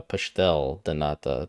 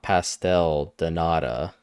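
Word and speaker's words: pastel de nata: mine I understand he's not Portuguese so the pronunciation would be wrong so you would say or uh pashtel thanata depending on the the spelling of piste or pashtel but yeah it's not pastel de nada it's but again he's not Portuguese so it's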